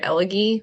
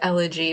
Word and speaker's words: elegy: that's a weird like it didn't even click that it's elegy when I heard Elie like I was like weird name for a book hillbilly elige and then I saw it and I was like it's elegy but now when I